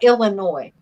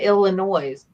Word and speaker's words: Illinois: Oh am i uh Illinois okay GD I used to call it Illinois's but I had to learn when I was when I was at the conferencing center not every S is pronounced yeah I Des Moines